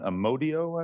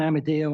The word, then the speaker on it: Amadeo: and I no doubt mispronouncing name my apologies amodo I believe am I close you were close I've heard it worse please go ahead sir so yes my name's Amadeo and I serve on